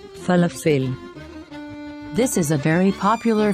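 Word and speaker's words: פלאפל: here let's spell it this is how we pronounce this word falafel falafel this is a very popular food in israel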